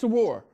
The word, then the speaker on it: Sourour: Sarawar, but it's Sarawar.